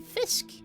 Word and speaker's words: fisk: Fisk. Cuz you have a K instead of a H. So it's spelled almost the same way. So you have a K sound. So you say Fisk.